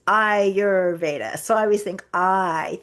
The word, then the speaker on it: Ayurveda: thank you and a lot of people say are you that's not it it's iurda so I always think